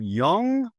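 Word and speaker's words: Jung: So So you're gonna have to help me with this pronunciation, too. All right. All right. Is it Is it Carl Young?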